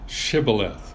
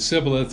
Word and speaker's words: Shibboleth: And he says no, then they would say to him, say now Shibboleth. But he said Sibboleth, for he couldn't pronounce it correctly.